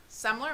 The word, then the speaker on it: Semler: a friend's name, Semler. Am I saying it right? Semler? Did I say it right? Yes.